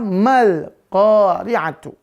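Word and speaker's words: مَا الْقَارِعَةُ: Ya, maka mal qari'atu. Ya, lalu ketika ma dilafalkan, ya, maka nggak boleh ma ini tebel, nggak boleh, harus tipis dia. Nggak boleh mul, nggak boleh.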